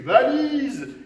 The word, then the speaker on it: valise: Oh, mais bien sûr, c'est une valise. Il ne faut jamais oublier sa valise en partant en voyage. Valise, il y a 3 syllabes, n'oubliez pas. Va-li-ze. Vous entendez le Z?